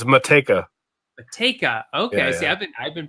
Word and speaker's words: Matej: your last name I don't butcher it it's motika take out okay I've been pronouncing you with like a I don't know